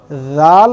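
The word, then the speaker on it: ر: দাঁতের আগার সাথে লাগিয়ে রাল উচ্চারণ হবে। তাহলে রাল, রাল, ঠিক এভাবে। তারপরে হরফ হচ্ছে র, র। এখানে আমি লিখেছি বাংলায় বয় শূন্য র, ঠিক এই রয়ের মতো উচ্চারণ হবে।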